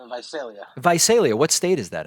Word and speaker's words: Visalia: don't we go from donny from is it pronounced visalia visalia it's visalia visalia what state is that in it's in